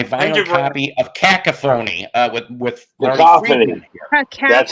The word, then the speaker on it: Cacophony: Jason Becker, indeed, and I've showed my vinyl copy of Cacophony with Cacophony.